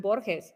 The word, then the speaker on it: Borges: So, um, yeah, by the way, Michael, good job on pronouncing Borhees. I took a class, we read one of his essays in class and they would say Borges and I was bores.